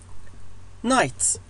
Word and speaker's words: night: night الجي اتش silent صامتة لا نلفظها night بمعنى ليل.